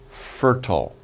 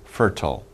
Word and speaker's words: fertile: say that land is fertile. We've cultivated that field with plenty of manure. It is very fertile or fertile. Some people pronounce it different ways, fertile.